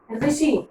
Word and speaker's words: ऋषि: री से ऋषि, इसलिए उच्चारण में ध्यान देना।